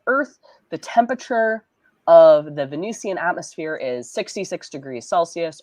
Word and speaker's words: Venusian: I really I I guess I always want to pronounce it like it's Venice like I want to say Venetian but no that's a different word that's a different word okay because there's a venusian venusian atmosphere you can confirm that